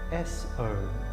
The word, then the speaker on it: so: Staying with the breath awareness, on every inhale, mentally say the syllable so, S-O, so.